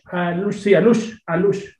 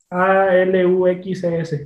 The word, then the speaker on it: Alux: Alush. ¿Cómo lo pronuncio? ¿Cómo lo...? Ahora sí dices. O Alushes. Con... A ver, con X. ¿Deletréalo? Alux. Aluxes. Perfecto.